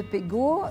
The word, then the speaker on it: Pegau: toutes les langues donc on prononce Pego ou pego en provençal mais c'est un nom